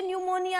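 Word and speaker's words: pneumonia: और यह जो निमोनिया है इसको आप स्पेशली याद रखें क्योंकि हम बोलते निमोनिया है लेकिन जो इसकी स्पेलिंग है वह स्टार्ट होती है पी से।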